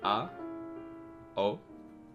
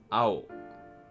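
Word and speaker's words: あお: Say it with me. A. O. A-o. Ow. Ow. So it's not a-o. A-o. It's ow.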